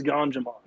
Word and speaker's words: Ganjamon: It rhymes with Pokemon, but it's Ganjamon.